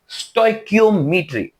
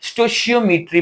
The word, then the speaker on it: stoichiometry: अच्छा, इसको बेटा डिफरेंट प्रोनाउंसिएशन होती है। स्टोइकियोमेट्री भी इसको बोलते हैं, स्टोशियोमेट्री भी बोलते हैं, स्टोचियोमेट्री भी बोलते हैं। तो जैसे आपका दिल करे आप इसको प्रोनाउंस कर सकते हैं। बाकी स्टोशियोमेट्री में इसको प्रोनाउंस करूंगा।